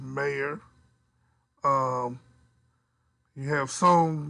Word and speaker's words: Mayer: And Oscar Mayer, and now it's not Meye or Ma, which is I think pronounced mayor.